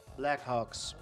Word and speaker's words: Blackhawks: I'm pronouncing the H I'm putting emphasis on the H because I'm not saying